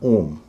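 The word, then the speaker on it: ohm: है इसका उच्चारण है ओम जैसा ओम होता है वैसे ही इसका उच्चारण ओम है इसमें एच का उच्चारण नहीं होगा और चौथा शब्द है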